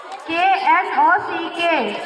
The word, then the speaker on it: knock: KNOCK, knock. Silent letter K.